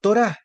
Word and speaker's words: Torá: y la ge pronunciando torá la t es como la t la bab como la o la re como la r y que está ya